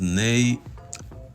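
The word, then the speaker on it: neigh: try to pronounce that how is that pronounced nay i don't know but it is pronounced that way and this is the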